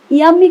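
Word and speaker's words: yummy: ইয়াম্মি কিন্তু উচ্চারণ হবে দীর্ঘই, অর্থাৎ ইয়ের পরে জোর হবে, ইয়াম্মি খাবার।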